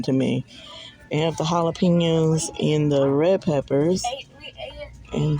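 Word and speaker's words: jalapeño: It's jalapeno. Jalapeno. That J is not pronounced. It's pronounced like an H.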